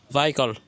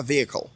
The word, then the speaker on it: vehicle: Vehicle. Oh, not exactly. OK. Alors, la première syllabe sera V. Ensuite, on a hickle. Donc, ça sera vehicle.